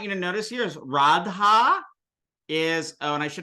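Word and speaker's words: राधा: Isn't that a long A right there? That it should be a long A right there. It's a long A right there. Yeah, Okay. This is feminine, so it should be Radha.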